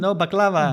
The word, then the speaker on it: baklava: Black Angel, yeah, it's just sweets that I have brought here from Lebanon, baklava. Baklava. That's how you pronounce it.